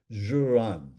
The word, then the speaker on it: Ziran: There's another word that I honestly have not heard Master Shaw use, but it's pronounced Z, I mean, it's spelled Ziran, Juran.